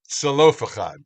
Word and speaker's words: Zelophehad: you who know Hebrew, if you look at the Hebrew, there's a chet in there, but most of the transliterations do not put a ch. They just pronounce it as an h, which is obviously not correct. So it's not even a z. It's like it's a tzadi. It's Zelophehad.